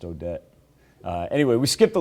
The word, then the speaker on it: Odette: also already had um i'm going to say it wrong odette i think it was pronounced odette anyway we skipped the